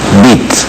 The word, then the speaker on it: Witt: En alemán se dice, la B se pronuncia, la W se pronuncia B, es Galo Mora Bit, para que se sepa.